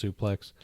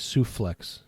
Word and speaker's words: suplex: Greg Gagne, he couldn't pronounce suplex. Souffle. No, it was always souflex.